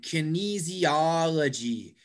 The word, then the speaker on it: kinesiology: and the next one kinesiology kinesiology does anybody know it's the same about physiology yes in kinesiology it's the form i think yes exactly yes exactly the third from the end third syllable from the